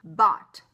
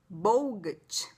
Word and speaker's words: bought: Como que você iria pronunciar essa palavra? Bogut. Bogut. Então, I bogut. E aí, o que acontece? A gente mata o U, mata o G e mata o H e vai virar bought.